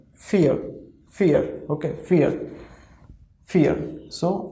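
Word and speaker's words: vier: then we have four in german it is fear okay fear see it is starting with v but pronunciation of v in german language is for right so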